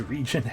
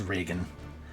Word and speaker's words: region: as the guy who pronounced his region as Reagan. That's one I have never understood, personally. Like I said, I don't harp upon it with people, but because I look at region, I'm like, ah, yes, short for regenerate, so region. So I've never understood the mispronunciation of that as Reagan. Regenerate, true.